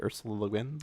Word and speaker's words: Ursula Le Guin: reading The Left Hand of Darkness by Ursula Le Guin, which I Ooh. probably butchered her name just now, but she did the Earth Chronicles of Earthsea.